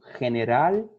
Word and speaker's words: general: La G corresponde a dos sonidos, delante de E y I, como general e gimnasio. Ele vai ter esse som chiado, tá bom?